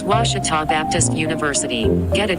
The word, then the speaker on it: Ouachita: university along your route some folks think the o is a queue and they say quashital hey wachita watch it talk back in texas everybody pronounces it wichita but really it's ouachita